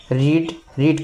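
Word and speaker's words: read: ठीक है, हमें कहानी पढ़नी चाहिए थी, तो वी शुड हैव रीड का थर्ड फॉर्म रीड होता है, इसको रेड पढ़ते हैं।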